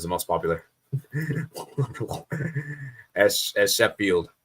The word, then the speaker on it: Sheffield: most popular as as shef field United not Chef field wait what right did